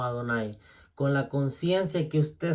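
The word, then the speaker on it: Adonai: de la escritura hebrea usted lo va a pronunciar como adonáis con la conciencia que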